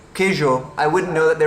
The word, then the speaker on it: queijo: just bought some cheese and it looks like it's spelled queijo. Like that's what it looks like it's spelled. Like I don't know if that's how you pronounce it, but it just hearing someone say queijo, I wouldn't know that they were trying to